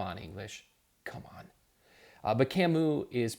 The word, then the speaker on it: Camus: read an author like a camu and that spelled see a mus I used to mispronounce